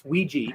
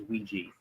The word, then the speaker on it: Ouija: It it's a it's Ouiji. That's the the actual pronunciation for it.